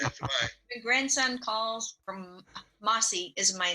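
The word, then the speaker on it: Massey: My grandson calls from Mossy is my name. I'm Mossy. Mossy. Not like the moss that hangs out of the tree, but Mossy as in just Mossy.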